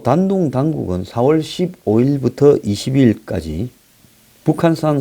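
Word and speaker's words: 丹东: 단동 이라는 게 뭡니까 이 한문으로 단동 이고 이 중국 발음으로 단둥 이라고 하는 요기가 북한하고 다리가 연결되는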